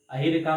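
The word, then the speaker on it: Ayhika: तो ये जो है अहिरिका, अगर हम सही प्रोनाउंसिएशन कर रहे हैं तो याद रखिएगा अहिरिका मुखर्जी और सुतीर्था मुखर्जी।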